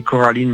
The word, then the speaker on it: Coraline: Là, on change un peu la prononciation, c'est Coraline, My Friend.